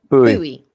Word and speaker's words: buoy: Can we just get this right? Buoy. No, it's not a buoy, is it? It's not density and buoyancy. It's actually a subject of contention in the chat room. Karen's pronunciation of boy. Buoy. Buoy. There's no E in it, though. It doesn't make any sense. If it was B-O-U-E-Y, then maybe it'd be buoy.